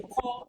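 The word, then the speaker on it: corps: a COR member and that word core member is not C it is c o r p s both the p and the S are on sounded it's a call member can you see so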